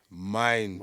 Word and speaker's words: Mindz: And it's not, and you don't pronounce, and you don't write in Minds, it's Mindz.